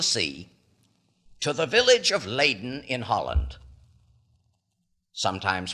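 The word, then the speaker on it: Leiden: ourselves across the sea to the Village of leaden in Holland sometimes pronounced lien in the University there was a professor by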